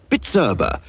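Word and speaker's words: Bizerba: price labeling Machinery is bitera B I erba pronounced bitera so now you can pronounce it give your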